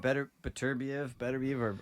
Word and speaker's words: Beterbiev: Beeble and Beterbiev are pretty neck and neck there.